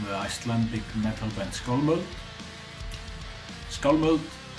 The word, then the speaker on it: Skálmöld: Skálmöld is pronounced Skálmöld. Skálmöld.